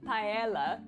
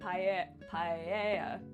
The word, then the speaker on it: paella: So pa paella with the two L's. I'm pretty sure it's like paella because it's not tortilla.